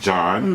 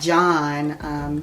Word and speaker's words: Jahn: JAHN is, I guess, pronounced John.